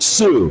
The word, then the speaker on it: Tsu: Winning videos will be streamed on the social media platform Sue, that's spelled TSU, and the overall winner